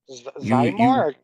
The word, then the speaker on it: Xymor: Zymor?